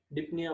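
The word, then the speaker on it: dyspnoea: वो डिसीज है, ठीक है, डिप्निया बोलते हैं इसको. एस साइलेंट है.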